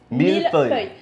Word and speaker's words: millefeuille: Millefeuille. Hey, franchement, pas trop mal, on est d'accord? You're almost there. Millefeuille. Feuille. Feuille. Millefeuille.